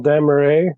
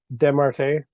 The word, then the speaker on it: Desmarquet: But basically, he is representing um, Michel Desmarais. Is that the correct way to say his name? Desmarquet. Michel Desmarquet, who wrote a book